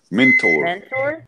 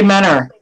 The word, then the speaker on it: Mentor: Mentor. Mentor. The Fresh Maker. Mentor. All of us. No, all of us say Menor. That city is Menor. Menor. That's what you fish with, Menors.